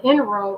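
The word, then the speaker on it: inro: spelled o-j-i-m-e ojume and in a row is just how it sounds i n r o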